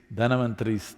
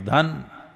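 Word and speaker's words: धन्वन्तरि: It is Dhanavantari's Trayodashi. North Indian people must connect, don't go on clipping away one syllable and come, Dhanavantari becomes Dhan, Trayodashi becomes Tera. Don't keep clipping it away.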